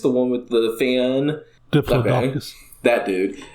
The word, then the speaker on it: Diplodocus: It showed the, I'm going to say this dinosaur's name wrong, is it Diplodocus? The one with the fan? Diplodocus.